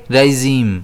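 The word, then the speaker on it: regime: नहीं इ किया गया इसे हम कैसे प्रोनाउंस करेंगे राइजीम इसमें स्ट्रेस जो है वो जेड पर जाएगा।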